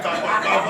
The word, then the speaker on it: Akpakpava: But when the Beninese want to pronounce it, it's difficult. They end up calling it Akpakpava Road.